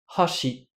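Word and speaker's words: 箸: Je vous donne un autre exemple. Sake, c'est le saumon, et sake, c'est l'alcool. Hashi, ce sont les baguettes avec lesquelles on mange. Et hashi, c'est le pont. Donc voilà, tant de mots, il y en a plein d'autres, qui paraissent identiques, mais qui ne le sont pas quand on fait bien attention à l'intonation.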